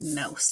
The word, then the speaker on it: mouse: i'm going to write mouse down here oh and you go together to make it ow and there's a silent e at the end okay i'll make this